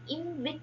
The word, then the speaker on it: IMViC: be called as the invic test. As I have told you earlier, it is the combination of four test indolus procar and citrate test. The small I is used generally for the pronunciation purpose.